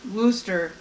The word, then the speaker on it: Worcester: be Worcestershire sauce because they pronounce Worcester Massachusetts I think it's the name of the town as Wooster so wouldn't it be